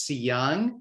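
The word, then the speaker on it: Seung: resume the young man's first name is c young so it's spelled s-e-u-n-g and if you google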